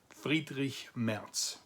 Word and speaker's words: Friedrich Merz: And that person's name is spelled like this, but it's pronounced Friedrich Merz.